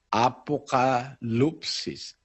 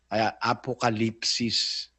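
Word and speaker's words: ἀποκάλυψις: kahulugan ng apocalypsis apocalupsis pero sa tamang pronunciation sa Greg ang ginamit kasi yung yung U no katumbas yun ng I sa atin eh apocalypsis pero Kung babasahin mo ang naglagay na paraan ng pagbasa nakalagay apocalypsis.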